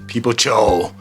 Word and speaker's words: Peepo Choo: they were like, yo, I love Peepo Choo. Peepo Choo. And I'm like, what? And I've heard it in videos too. But to anybody who cares, I mean, whatever. But it's called Peepo Choo. That's the name of the series. It's a Korean one, Peepo Choo. Last name Choo. Peepo Choo, yeah.